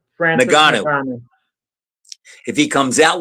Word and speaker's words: Francis Ngannou: Francis Ngannou.